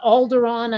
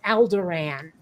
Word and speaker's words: Alderaan: context yes like like how many times have people mispronounced uh Alderaan as aldoran you know what I